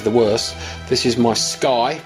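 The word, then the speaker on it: SCCY: gun other ways the worst this is my sky pronounced SCC why um it's a fairly lightweight gun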